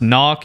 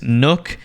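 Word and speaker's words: Nøkk: Kade it's pronounced kaid now isn't pronounced knock it's Nook I don't know why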